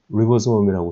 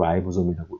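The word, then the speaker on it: ribosome: 표면을 리보솜이라고 쓰고 라이보솜이라고 읽는다.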